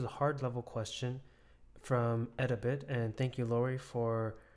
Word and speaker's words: Edabit: a bit I think I was saying eat a bit ed as an education but anyways um let's